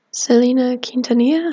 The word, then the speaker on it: Selena Quintanilla: And I think her name is pronounced Selena Quintanilla.